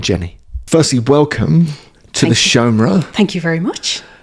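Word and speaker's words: seomra: Firstly, welcome to the Shomra. Thank you very much. How is my pronunciation of that, by the way? No, Shomer, that's perfect. That's perfect. That's exactly how you pronounce it.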